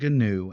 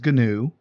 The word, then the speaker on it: GNU: is the gnu public license and yes i pronounce it gnu adam stop frowning at me um it is gnu the gnu public license um if you look